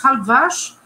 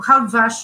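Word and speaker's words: Halbwachs: do Durkheim, chamado Maurice Halbwach. Eu estou falando o nome na pronúncia francesa, não sei como é que se pronuncia isso no Brasil, nem como se pronuncia nos Estados Unidos.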